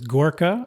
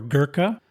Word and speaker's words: Gurkha: One word I've mentioned a few times is Gorkha or Gurkha. There are 2 different pronunciations and spellings.